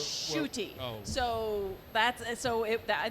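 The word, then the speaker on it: Ncuti: some of our uk viewers how do you pronounce this and we were told scooty and we're like no it's shooty so that's so it i think that was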